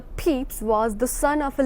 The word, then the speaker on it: Pepys: Samuel Pepys, it normally pronounced the Pepys, was the son of a London tailor.